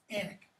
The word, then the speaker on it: Alnwick: It's pronounced like this. Alnwick.